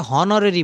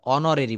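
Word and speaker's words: honorary: দিব এটা হচ্ছে অনরেরি এইচ ও এন ও আর আর ওয়াই এটা হনরেরই বলবো না এটা অনরেরই বলব।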